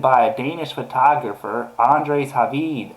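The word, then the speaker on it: Hvid: Egyptian authorities are investigating the photo posted by a Danish photographer, Andres Havid. I guess that's how you say it, Havid, H-V-I-D, I'm not sure.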